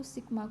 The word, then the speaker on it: sigma: Kalau untuk population itu sigma kuadrat. Jadi yang tadi itu dibacanya sigma. Jadi yang di slide seperti ini itu bacanya sigma.